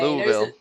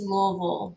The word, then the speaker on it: Louisville: Louisville. The way I say it is Louisville.